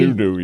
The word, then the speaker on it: Ezudu: Ezudu, yes. Yeah, kind of reminds me of Xanadu, the old Olivia Newton-John deal there.